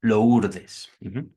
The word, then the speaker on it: Lourdes: Lo estoy pronunciando directo, ¿no? Como latinizando. Lourdes. Hacia el 54, el año